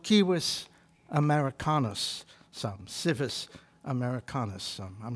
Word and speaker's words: civis: civilization which comes from a latin word kiwis or sivis c-i-v-i-s but they pronounced it kiwis uh if you said